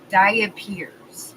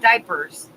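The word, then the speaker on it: diapir: talk to you about diet Piers not diapers diet peers it ends it's spelled like diapers but it ends in IRS instead of ERS it's more of a French word I think but there can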